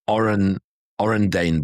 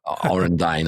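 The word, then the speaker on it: Orendain: Yeah, I just looked it up, and they're the brothers were the Orendane brothers. That's how you pronounce it. There is a tequila called Orendine as well. Orendine, I should have said.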